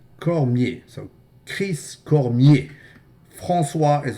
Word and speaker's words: Cormier: To be noted, Cormier is also a French name which should be pronounced Cormier Cormier.